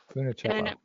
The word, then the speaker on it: Funicello: Funicello.